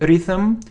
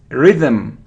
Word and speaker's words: rhythm: so it isn't rhyme so it isn't if rhythm it's rhythm rhythm rhythm the rhythm rhythm